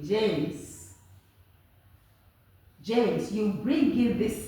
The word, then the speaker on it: James: okay very very simple this e is silent is not coming in okay then you listen